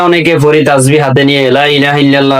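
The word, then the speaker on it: لا إله إلا الله: যদি বলেন লা ইলাহা লা এটা তিন আলিফ টানা এটা টানতে হবে কমপক্ষে এক আলিফ টানা ফরজ।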